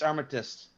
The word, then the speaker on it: Armistice: day or Remembrance Day Armistice that's hard say that 10 times ar ar arm arm arm s is silent it's armst all right let's see how